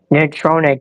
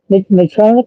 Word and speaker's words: Natrona: Nrona County. I can't pronounce that. Natrona County. Yeah. Natrona.